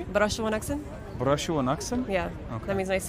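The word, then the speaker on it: Barasho wanaagsan: Barashuwanaksan?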